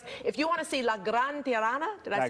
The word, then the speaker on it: La Gran Tirana: If you want to see La Gran Tirana, did I say it right? La Gran Tirana, yeah, right.